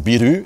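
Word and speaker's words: ビール: appelaient le Saquet d'orge un truc qui se prononce biru et qu' bois en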